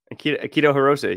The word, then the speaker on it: Akito Hirose: do I say his name I mean uh keto Hiroshi you got it right oh okay perfect man